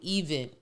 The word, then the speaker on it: EVN: you the letter U even even is spelled EVN not EVN EVN so it's get letter